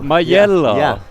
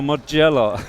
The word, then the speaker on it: Majella: Majella? I was going for Mugello.